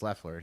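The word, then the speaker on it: LaFleur: purdue and lefleur also he mispronounced her name it's lefleur he makes me want to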